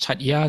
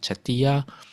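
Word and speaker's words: chaitya: a sometimes it's pronounced Chatya, sometimes it's pronounced Chatiya, in the Triumtrimsha heaven.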